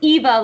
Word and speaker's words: Eva: pronouncing it wrong it's it's Eva like Longoria but I was first